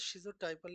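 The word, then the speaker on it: schizotypal: in the schizophrenia Spectrum pronounce shot typal is odd type thoughts shot typal is odd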